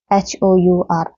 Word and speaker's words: hour: फ्लावरफुल होता है, आर होता है NR, HOUR। ठीक है, अ का साउंड आता है, ये एच साइलेंट होता है इसमें।